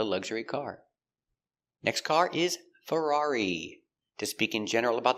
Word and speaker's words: Ferrari: Pronunciation of Ferrari. Fur Fur a frer Ferrar E. Ferrari. Ferrari. Stress on the second syllable.